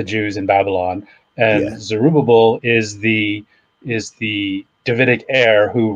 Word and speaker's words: Zerubbabel: Zerubbabel. Zerubbabel. Put so, the emphasis on the ub. Ub. So at the time of Cyrus the Great frees the Jews in Babylon, and yeah, Zerubbabel is the Davidic heir